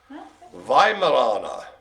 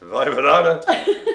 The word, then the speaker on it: Weimaraner: Weimaraner. So it begins with a W, you know. Pronounce V in the old Teutonics.